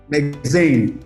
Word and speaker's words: Lexain: Did I get the pronunciation well? Lexain.